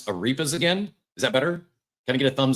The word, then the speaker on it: arepas: I'm going to try to pronounce arepas again.